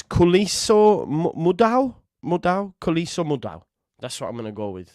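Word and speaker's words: Khuliso Mudau: How to pronounce? Let's have a listen and see what it says. Kuliso Mudau. Oh wow! Listen. Kuliso Mudau. There you go. Wayman was on the nose. Kuliso Mudau.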